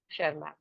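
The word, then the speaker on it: Tschermak: and number three one शर्मा वन शर्मा again T silent S सी एच ई आर शर्मा इन्होंने independently वही काम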